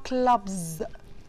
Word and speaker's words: clubs: كلمة clubs انا نطقتها clubs يعني كأن الاس دي زي ز.